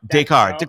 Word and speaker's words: Dakar: Dakar. It's not. There's no Y in it. It's just Dakar.